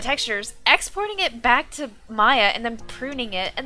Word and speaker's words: Maya: Maya rhymes with Zaya.